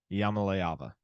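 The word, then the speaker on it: Iamaleava: Yamaleava. Yamaleava. Did I do it right? Yeah. See, I would have butchered it if I tried it.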